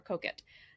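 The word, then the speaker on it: Coquet: says the river and it looks like cocaine but it's the river cook it so if you're in england and you go to work with pronounced at the river koket so a couple of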